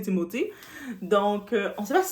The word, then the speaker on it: Timothée: avec Mr Timothé chal ok timothi shalama timothi on va juste le prononcer timothi donc on sait pas